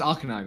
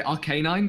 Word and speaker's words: Arcanine: Savannah though yeah Arcanine is sick though it's pronounced Arcanine right yes that's how I say it see I always want to say Arcanine because like as in K9 is in like